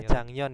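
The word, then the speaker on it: 작년: ada J ada jangnyon ini itu bacanya itu adalah jangnyon ya bukan bukanon tapi Jang non ore tahun ini atau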